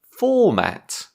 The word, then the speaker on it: format: Today's word is format. Format. Stress on the first syllable.